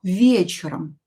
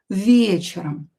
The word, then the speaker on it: вечером: Here is not stressed will be pronounced as "e" and "o" will be pronounced as "a". Вечером. Вечером.